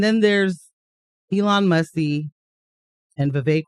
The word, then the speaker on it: Vivek: And then there's Elon Musk and Vivek rhymes with cake doing their Dogecoin, government.